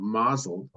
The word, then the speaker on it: mazel: incorporated into modern Hebrew the Yiddish and ashkenazic pronunciation of mael has the stress on the first syllable while the modern Hebrew word mazal has the stress on the last syllable mazeltov is also used